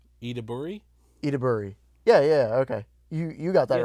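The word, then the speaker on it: Ayo Edebiri: Excuse my ignorance on how to pronounce her name, but I looked up her pronunciation to help me. Her name is Io Ediburi. Ediburi? Ediburi.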